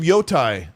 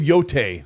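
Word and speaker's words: Yōtei: Andy Hart, thanks for the too, says, "Thoughts on Ghost of Yotai or Ghost of Yoteay, sorry, is how you pronounce it."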